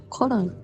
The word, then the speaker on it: Cologne: ちなみに英語の発音はコルン、その方が通じるなっていう感じです。